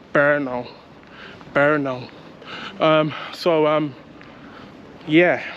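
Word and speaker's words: Brno: in um in Oldtown berno and I like the name as well so it's spelled b r n o and it's pronounced berno berno um so um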